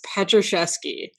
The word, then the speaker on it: Pietruszewski: So my last name is Pietruszewski. So it's 4 syllables, 13 letters, and it's spelled Pietruszewski.